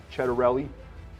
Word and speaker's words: Ciattarelli: I'm sitting with the Republican candidate for governor, Jack Chedarelli, and my colleague, Holly Finley from the Blue Magazine.